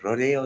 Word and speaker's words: Rodeo: Rodeo Drive. I think so. Rodeo Drive.